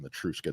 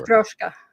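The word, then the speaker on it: Matryoshka: I'm saying it wrong. I don't know what the word is in Russian, but they're called Matruska dolls for sure. Matroska. Matroska. That's how you said.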